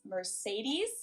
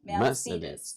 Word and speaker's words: Mercedes: Um, so most Americans call this Mercedes. Mercedes. German we pronounce it Mercedes.